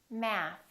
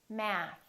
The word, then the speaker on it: math: Math. Math. Keep the tongue out. Let it vibrate.